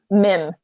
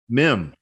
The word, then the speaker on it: Mihn: Mim. Yep. Mim. German.